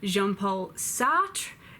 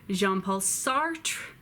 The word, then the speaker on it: Jean-Paul Sartre: to do in English so you might hear jean-paul Sartre jean-paul Sartre jean-paul sartre just do your best Simone de